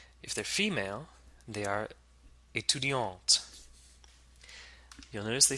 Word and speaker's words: étudiante: And to make the word feminine, we add an E at the end and now pronounce the T. Étudiante.